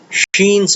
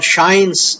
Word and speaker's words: Schein: In the last video, I explained to you Sheens or Shines. It's a German name, so my pronunciation would be long.